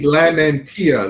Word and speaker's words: Lamentea: manufacturing employer so terrific my name is lamentea that is how the last name is pronounced always give me the brownie points if you can get